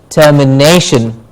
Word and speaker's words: termination: For example, termination. Termination, the ne gets a stress.